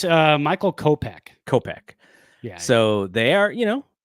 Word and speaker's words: Kopech: Tommy Edman was the other one, and then they got how do you pronounce the reliever's name? Is it Kopech? It's Michael Kopech.